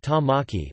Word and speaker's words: Tāmaki: The Maori language name for Auckland is Tamaki, pronounced Tamaki or Tamaki Makau Rau,